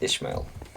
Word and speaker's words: Ishmael: All I know is that the first part is actually ish, not is I think it's Ishmael. Ishmail.